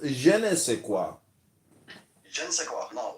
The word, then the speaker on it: je ne sais quoi: It is pronounced je ne sais quoi.